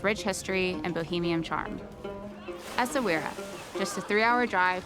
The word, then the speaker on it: Essaouira: How do you pronounce where we are? Essaouira. Essaouira!